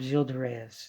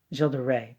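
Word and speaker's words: Gilles de Rais: called the tile of Gilda Reyes and Gilda Ray jilda Ray pardon you don't pronounce yes was a Infamous murderer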